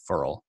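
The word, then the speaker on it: Ferrell: and so to me feral has I keep saying his name I don't know how to say his name I think it's furl actually is how he says it but I think he's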